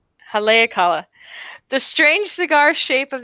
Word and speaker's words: Haleakala: Yes, you said it right the second time. Haleakala.